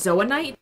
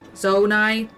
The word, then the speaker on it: Zonite: before I was saying it was zoan knite or or zo yeah zoan knite it's just Zite it's it's two syllables zonite zonite but I was always saying zanite I didn't realize it